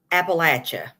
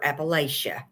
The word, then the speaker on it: Appalachia: Besides, the proper pronunciation is Appalachia. It's never Appalachia. Is it though? Is it? Because I don't see a T in that word anywhere.